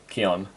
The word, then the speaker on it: Qian: looking at you Qian Qian rhymes with me on you too i Yuri